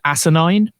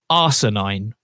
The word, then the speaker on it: asinine: But because she is an American actress doing an English accent, she pronounces it arsenine. Because obviously she thinks that ASS in the UK is actually said as arse.